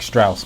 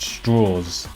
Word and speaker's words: Strauss: It looks like Strauss, but it's pronounced Straws, who is portrayed by the impressive Robert Downey Jr.